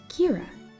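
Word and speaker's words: caora: word sheep in irish in irish you say sheep as kira can you say it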